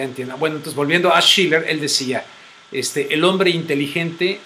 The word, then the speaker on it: Schiller: También decías de Schiller o Scheller, ¿cómo se pronuncia? Max Scheller. El que escribió la cuestión de el texto del canto a la alegría de Beethoven, ese mismo. No sé, Schiller. Es Schiller.